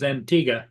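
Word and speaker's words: Antigua: okay yeah I guess I guess the pron correct pronunciation is Antiga but come on but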